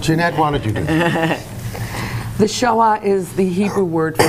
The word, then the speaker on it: Shoah: a lot of people to say shaah is a lot easier than saying Holocaust it's one syllable as compared to three it's easier to pronounce